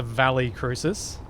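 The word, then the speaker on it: Valle Crucis: And we have the next ship, even though it's spelled as though it should be a double L yes sound. As Checksum said, it's the Valley Crucis, which I presume is more like Valley of the Cross.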